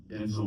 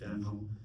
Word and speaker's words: Denzel: Denzel Washington. I just saw a video where he's pronouncing his name correctly. It's Denzel, it's not Denzel. It's like Denzel.